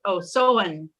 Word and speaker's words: Samhain: pagan festival of ancient Ireland known as Samhain, pronounced Samhain, about which little is known.